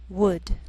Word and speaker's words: would: Sometimes L can be silent, so you have to be careful.